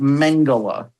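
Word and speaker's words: Mengele: It's it's it's pronounced Mangala. Mangala.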